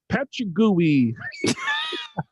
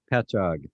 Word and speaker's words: Patchogue: we got pete from patchy gooey wow peppa gooey i don't know how the hell did you pronounce that uh notice his last sentences can't wait to hear how joe pronounces this one it's uh patchogue new york pecha gooey did you actually look that up al yeah i did because i didn't know i was going to say pachog yep picture petcha pecho